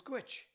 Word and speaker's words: Dhuit: and "ah" - "wash-a" And the last word is Dhuit, pronounced "gwitch" Go put it all together now.